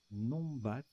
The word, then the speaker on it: numbat: Numbat. Alors, ça se prononce Nombat.